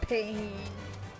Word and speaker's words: pain: Because in French it's pain, but it's spelled pain, like ouchie pain.